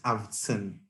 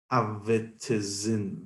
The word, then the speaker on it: Afzan: By the way, the correct pronunciation for it is Avtsin. It literally has no vowels. It's Avitizin.